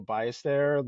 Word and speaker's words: Ballester: I'm gonna go with the Spanish pronunciation and go Ballester, like Sevi Ballesteros.